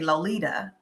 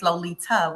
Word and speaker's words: Lolita: a backstory you know when people say my name often times they say Lolita and they say it with a d and they don't mean anything by it but it's Lolita with a t and there was a